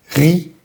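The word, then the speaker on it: riz: R y Z. Va a sonar ri. Esa Z no va a sonar al final.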